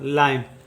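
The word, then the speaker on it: line: जैसे एल का लिखेंगे ल, आई का उच्चारण होगा आई, यानी कि ला ई, एन का लिखेंगे न, ये हो जाएगा लाइन, यह हो जाएगा लाइन।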